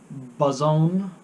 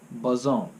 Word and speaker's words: boson: Thank you to Cole for the pronunciation on boson, like trombone, boson.